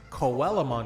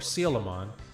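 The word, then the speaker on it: Coelamon: But there's a Digimon called Coellamon or Silamon. There's a there's an there's an ancient animal called a cilacanth. This Digimon was based off of it, but the name is spelled C O E L A M O N. Any rational person would see that and say, "Oh, Koella." Now, growing up, that's what we called it.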